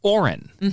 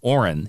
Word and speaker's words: Orin: So he is now called Orin, O-R-I-N.